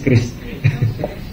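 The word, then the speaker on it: QRIS: Kalau teman-teman bacanya kiris ya. Kiris, ya apapun lah, kiris. Kalau saya kayak lebih praktis kris.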